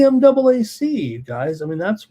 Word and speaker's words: MAAC: too many people were pronouncing the conference as you know MAC and then they always say the other MAC it's the MAAC you guys I mean